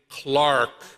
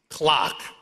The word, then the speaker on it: Clark: I love returning to Rhode Island to hear my last name, Clark, pronounced like the timepiece, clock.